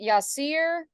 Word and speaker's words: Yasir: it hi Yasir welcome to Jacksonville is it Yasir is that the right pronunciation yes you got it right all right